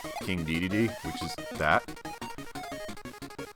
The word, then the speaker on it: Dedede: one of them but they pronounce it as king day-day-day and uh the only